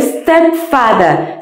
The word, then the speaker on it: stepfather: El stepfather, stepfather. No decimos step. Es una S líquida y no se pronuncia ninguna E delante.